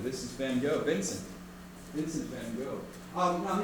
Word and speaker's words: Van Gogh: This is Van Gogh, Vincent Van Gogh. Now, he was a Dutchman, so you could say the correct way of pronouncing his name would be more like Van Gogh.